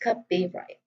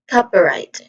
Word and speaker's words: copyright: Here it starts with cup, which is a short sound, and then the second sound is E, which is also a short E sound, short vowel sound. And then right, which has a diphthong sound in the middle I. So I is a diphthong sound here. So the stress syllable is on the first syllable, cup. So you say it as copyright. Again, copyright.